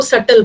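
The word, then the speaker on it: subtle: तो उसको सटल बोलते हैं। बी साइलेंट है।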